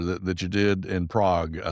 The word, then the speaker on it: Prague: So, let's go back to that long phrase that I had a hard time pronounced earlier. The dynamic neuromuscular stabilization practitioner that that you did in Prague. I said prayer.